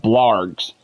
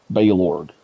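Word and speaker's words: Balorgh: to March of Sacrifices, you hear the guy go, "Your old pal Baylord." It's Baylord. That's how the NPC pronounces his name.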